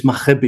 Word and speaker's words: Maghrebi: Well, actually, the G is silent. It's Maghrebi, but okay, you were good enough.